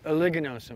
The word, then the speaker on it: uliginosum: Oligonosum. Oligonosum, right? Oligonosum. Yeah, it's like ugly, but it's not.